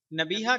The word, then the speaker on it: نبیہہ: تلفظ اور اعراب نبیہہ۔ نبیہہ کا صحیح تلفظ اس طرح ہے، یہ فعیلہ کے وزن پر ہے، نون کے زبر اور با کے زیر اور چھوٹی ہا کے ساتھ، یعنی نون زبر نا، با یا زیر بی، ہا زبر ہا، نبیہہ۔